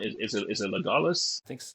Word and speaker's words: Legolas: Is it Legolas? I think it's Yeah, Legolas.